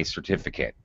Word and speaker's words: certificate: certificate i got my certificate all right again i reduce pronunciation i i don't say eight uh and uh all